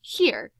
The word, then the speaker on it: hir: If you are curious about pronunciation, ZIE is pronounced Z and replaces he or she, and HIR is pronounced here and replaces his or hers.